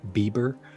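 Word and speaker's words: biber: using back end equals it's pronounced bieber um i have no idea why it's not justin bieber but we're just specifying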